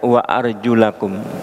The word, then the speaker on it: wa arjulakum: Wa arjulakum, nah dibacanya wa arjulakum, kembali kepada membasuh wujuhakum wa aydiyakum ilal marafiq, itu dibasuh. Nah, wa arjulakum tidak kembali kepada wamsahu dengan membaca wa arjulikum. Kalau mazhab Syiah ya, itu membacanya wa arjulikum, wa arjulikum.